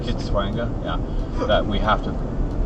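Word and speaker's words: Kitwanga: So we've just had to make a note that at the little town of Kitsanga, I think it's pronounced Kitswanga, yeah, that we have to turn off Highway 13 and go on to, what was it?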